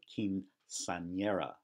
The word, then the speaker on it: quinceañera: In fact, notice that word has two N's. One is pronounced the way an N is normally pronounced, but the second one is pronounced like ny. So quinceañera.